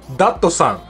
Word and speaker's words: Datsun: another interesting one is Datsun this is a tricky one that nobody seems to know how to pronounce correctly Datsun in Japanese is actually Dokdo Sun it is completely different and every time I say dr.